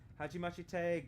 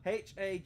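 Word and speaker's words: はじめまして: Hajimashite, girl. I think that is cringe. Hajimashite? Hajimashita? They're missing a syllable. Hajimemashite.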